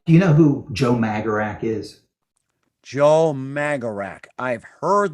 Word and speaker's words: magarac: But in Hungarian, Magarac means jackass. So there's a little bit. You Magarac. I'm my vocabulary. You Magarac. Yeah, but I think they pronounce it more like Magrats or something like that.